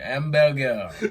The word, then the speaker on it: Hamburger: The thing is, the way he pronounced it, that's how it is. Hamburger.